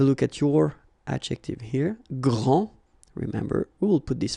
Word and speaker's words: grand: Okay, so phonetically what you can hear is that this first form here for the masculine, grand, so you don't pronounce the final D, will be exactly the